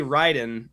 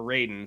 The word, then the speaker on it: Raiden: middle of each side yes we got a Ryden on the right um or Raiden sorry Mortal Kombat pronunciation right Raiden's this game